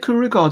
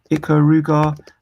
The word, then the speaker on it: Ikaruga: couldn't have Axelay, you couldn't have is it Ikaruga, the one where you're going between black and white? Am I getting the name wrong? Ikaruga, let me double check.